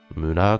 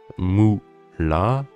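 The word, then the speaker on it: むら: Juste pour la prononciation, c'est pas mu-la, c'est mura, mura. C'est un petit peu dur, c'est un peu comme le e et le ou un peu combinés.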